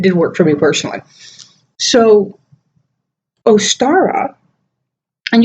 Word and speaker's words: Ostara: work for me personally so Ostara and you'll have to pronounce a lot of different ways estera Ostara I've always called it